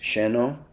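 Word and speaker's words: Xeno: This is in Puerto Angel, and the name of the resort is Zeno. It's pronounced Sheno Hotel.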